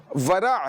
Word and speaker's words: ورع: واو, ہاں یہ بہت اچھا کیا آپ نے, کیونکہ عین کا تلفظ ہے نا وہ ظاہر نہیں ہو پاتا بعض اوقات. ورع ہے, واو را عین, ورع, اور ٹھیک ہے.